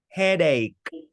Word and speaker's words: headache: uh this not sure this is egg hi headache egg hey yeah that's right headache that's right